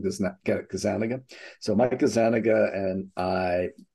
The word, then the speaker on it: Gazzaniga: I met Mike Gazzaniga, Gazzaniga, depending on where you are and how you pronounce it. I call him Gazzaniga.